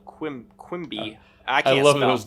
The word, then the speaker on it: Quimby: by sawmill owner Sewell Quibby. There's no L. Quimby.